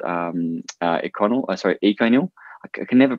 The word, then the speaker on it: Econyl: acro it's it's e-c-o-n-y-l i've heard about eight different pronunciations but some say econ or something can you you can take your pick um that's a really